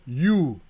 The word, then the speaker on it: hue: luminosité de sa saturation la teinte ça s'appelle you ça s'appelle ça s'écrit Hue mais ça correspond aussi à la lettre U donc c'est pour ça